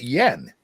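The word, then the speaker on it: yuan: summer in July um they they pronounced it Yen oh they say Yen then I'm the super Foreigner for the one okay it's Yen I I it doesn't I don't see Yen looking at Yu but that's how they pronounce it Yen I guess yes yes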